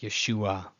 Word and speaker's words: Yeshua: The ayin is not treated as a glottal stop. It's just Yeshua, Yeshua, instead of Yeshua, Yeshua. That ayin is supposed to be a pause.